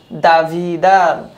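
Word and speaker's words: دویدن: এরপরের শব্দ দাভিদান, উচ্চারণ হবে দাভিদান, দাভিদ, দো, দাভিদান মানে হচ্ছে দৌড়ানো।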